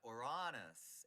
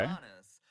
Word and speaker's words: Uranus: But the term I've said it needs to sound more like the original god Uranus, and it's spelled Ooh. O-U-R, Okay. Uranus.